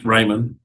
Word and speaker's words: Raymon: Raymond. Raymond does no D. Raymon. Yeah. I was always Raymon. That's how I That was Raymon.